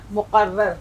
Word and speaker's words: مقرر: اب دیکھیے یہاں تشدید بھی آ گئی، رے 2 بار پڑھی جا رہی ہے اور رے کی شکل